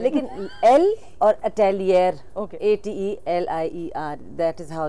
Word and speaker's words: atelier: हैं, लेकिन एल और अटेलियर, Okay. ATELIER, that is हाउ you spell that. और थोड़ा सा फ्रेंच वर्ड है तो थोड़ा सा उसका प्रोनाउंसिएशन फर्क है।